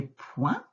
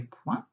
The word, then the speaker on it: points: Donc là, regarde, c'est le T qui est muet à la fin, donc ce n'est pas ce point-là. C'est le point, hop, qu'on met à la fin de la phrase. Donc des points.